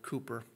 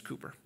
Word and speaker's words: Cowper: It's spelled C-O-W-P-E-R. Maybe it's pronounced Cowper. I've heard it pronounced Cowper, Cooper. However you want to say it, I think it's Cooper.